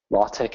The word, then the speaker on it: LaTeX: for making some superscript latch is spelled like latex so if you are